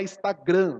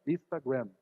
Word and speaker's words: Instagram: Não é Instagram, não tem acento no final, né? É uma palavra americana e ela se pronuncia dessa maneira, Instagram, tá? Então o povo vai abrasileirando e fala Instagram, né?